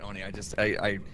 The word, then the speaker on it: Oni: Yeah, I know it's pronounced Oni. I didn't learn that until a year after I started playing this game. I know now it's an Oni.